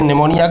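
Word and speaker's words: pneumonia: वैसे निमोनिया की जो स्पेलिंग है P से चालू होती है, साइलेंट रहता है, लेकिन अपन जनरल याद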